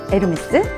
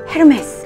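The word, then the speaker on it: Hermès: 에르메스. 근데 에르메스를 누군가가 헤르메스 이렇게 발음하면 저 사람 발음 왜 저래? 이렇게 말씀하시잖아요. 그런 것처럼 에르메스의 H를 히읗이 아닌 이응으로 발음하는 것처럼 위블로도 위블로로 발음을 해야 돼요.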